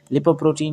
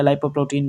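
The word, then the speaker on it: lipoprotein: लिपोप्रोटीन या लाइपोप्रोटीन, different pronunciations you कैन go with, okay.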